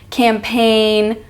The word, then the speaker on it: campaign: GN as in design campaign and align see how the g is silent you don't say design or campaign or align you say design campaign align so when that g